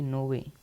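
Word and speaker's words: nove: हम कहेंगे आठ ठीक है को हम कहेंगे नोवे नोवे नो को हम कहेंगे नोवे नोवे का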